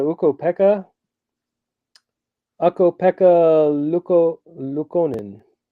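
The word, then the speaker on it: Luukkonen: Pekka AKO Pekka Luca luconen I said it right don't question me uh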